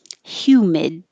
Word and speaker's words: humid: with the h sound hue humid and hold the d so that little mark